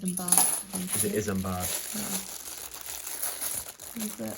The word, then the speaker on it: Isambard: Oh, I think I was calling him Isambard, and it's not. It's not how you pronounce it. It's Isambard.